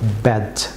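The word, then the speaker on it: badge: যেমন ব্যাজ viewers, এখানে D silent থাকবে, বলুন ব্যাজ, ব্যাজ ভিউয়ার্স।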